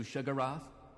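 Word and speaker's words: Sheogorath: be of service to shagarath despite putting that in the video and pointing out that this is the pronunciation of the name that Morrowind gives you people still leave embarrassing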